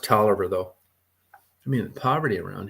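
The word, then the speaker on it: Taliaferro: last as far as broke counties no money talifero County it's t a i l a f e r r o it's pronounced toer though I mean poverty around here is like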